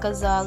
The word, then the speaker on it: ghazal: The ghazal pronounced like ghazal, like A is pronounced of U, has a long and